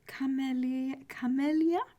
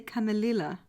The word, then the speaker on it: Camellia: All right, temperance for camellia. Why am I struggling to pronounce this? Camellia. Why do I want to say camelilla? Camellia.